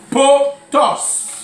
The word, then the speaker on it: potos: mot grec, on quoi vient du mot grec potos. Potos qui s'écrit P-O-T-O-S.